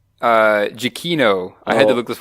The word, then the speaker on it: Giacchino: Pronounced, I think, Giacchino.